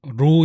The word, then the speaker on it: Roh: 첫 번째는 말레이시아 영하고 제목이 발음은 로 인데 roh 이제 한국에서는 쏘울 이라구